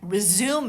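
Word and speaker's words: résumé: minute, then I would resume it when I would start it again. But if with the same spelling, R-E-S-U-M-E, you can also say resume. And your resume is like your CV.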